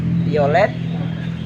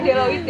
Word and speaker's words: Deloitte: Violet, Deloitte Aku teman-teman. nggak bisa baca. Maaf ya. Bacanya Deloitte ya.